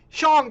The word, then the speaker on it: Shang-Chi: That's the way you pronounce it. Kevin Feige himself was on that video, and he said Shang.